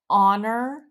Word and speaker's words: honor: example words that start with a silent h honor our herb we would say an on an hour an herb or words that start